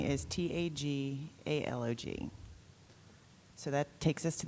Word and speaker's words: Tagalog: Tagalog, or Tagalog, would be an alternate pronunciation.